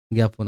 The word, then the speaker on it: জ্ঞাপন: এর উচ্চারণ জ্ঞাত। যে জ্ঞাপন, হ্যাঁ? এটা হলো কি? জ্ঞাপন।